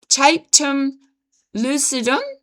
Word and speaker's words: tapetum lucidum: A structure called tapetum lucidum, I'll spell it for you.